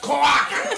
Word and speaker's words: cloaca: It's pronounced cloaca.